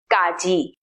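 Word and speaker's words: ကကြီး: with consonant number one gaji that is pronounced it sounds something between the english k and the english g like the k sound in category but the best way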